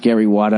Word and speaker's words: Granny Wata: the character's name was granny wada pronounced gary wada i gave you the pronunciation and accident so you wouldn't it up well it is spelled w ata granny what now it's